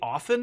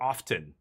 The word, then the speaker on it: often: you have to, like, do you say often or often? Do you pronounce the T? I pronounce the T because it's supposed to be, it sounds more professional, more businesslike, more, Okay, I'm going to Tidebinder this.